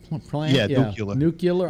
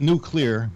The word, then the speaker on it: nuclear: plant the new Keeler nucular I don't even pronounce it wrong it's hard for me to pronounce nuke the new luke clear and not nuclear but nuclear so the water